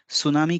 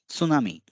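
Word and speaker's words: つなみ: तो देखिए ये जो सु है इसे हम अक्सर अंग्रेजी या दूसरे भाषाओं में सुनामी कह देते हैं, जबकि सही उच्चारण है सुनामी। सु। सु नहीं, सु।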